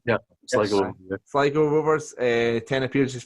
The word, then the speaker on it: Sligo: Is that correct pronunciation? Yeah, Sligo.